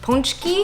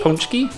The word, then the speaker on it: Pączki: So I believe the pronunciation for these is punchy punchy That's what kind of wood had said online anyway, so hopefully we're getting that right basically It's just circular